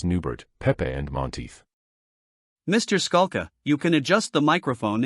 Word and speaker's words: Scala: the court said please state your name and spell it the witness said my name is Scala S A lka the court said you may inquire direct examination by Mr Fergenson good morning Mr skulla good afternoon good afternoon Mr Fergenson said your